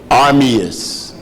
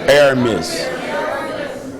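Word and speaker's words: Ermias: Because his name Armus, is that how you say it? Aramus.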